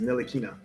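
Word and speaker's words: Ntilikina: hey just take to remove the t is nilikina nelikina okay right where would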